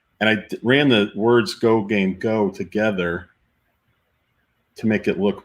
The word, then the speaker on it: Gogamego: So do we pronounce it Go Game Go? I just say Go Game Go.